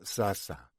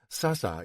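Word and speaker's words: سعسع: The Arabic pronunciation uses two lengal a but the sign to the entrance of the kibuts built on the ruins of the Palestinian village points to sasa. Hebraization having done away with the throaty pronunciation of the Arabic difficult for Europeans to master in favor of the obviously more European soft sounding a Palestinian houses have survived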